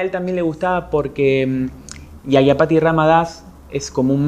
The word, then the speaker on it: Yajñapati: A ver, contanos cómo se pronuncia. El nombre, bien. Sí. El nombre es Yagyapati Ram Das.